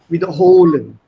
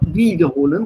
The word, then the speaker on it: wiederholen: Wiederholen. Make sure your Betonung liegt auf der zweiten Silbe. Yes. Not wiederholen, sondern wiederholen.